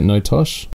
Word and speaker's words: NoTosh: Is that how you say it, NoTosh? That is how you say it, although it's pronounced in so many different ways by different people.